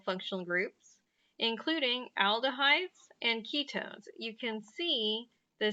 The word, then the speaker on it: ketones: has a h4 hydrogen i like to think of ketones it sounds like the word key so if you remember